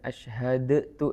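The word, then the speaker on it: أشهد: മറ്റൊരു നിയമം അശഹദു എന്നുള്ളത് അശ്ഹദു എന്നുള്ളത് രണ്ടക്ഷരങ്ങൾ കൂട്ടിച്ചേർത്ത് അശ്ഹദു എന്നാ പറയുന്നത് അപ്പോ ആദ്യത്തെ ദാലിന്റെ ഉച്ചാരണം കേൾക്കൂല അതൊരു ഇദ്ഗഹാമാണ് ഒരക്ഷരം കേൾക്കാതെ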